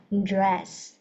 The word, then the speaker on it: dress: nha cả nhà dress chứ không phải là red red red nha rất nhiều bạn không đọc được chữ đ này cái Mọi người th đọc là red red là sao nha dress dress âm đúng không dress Ok the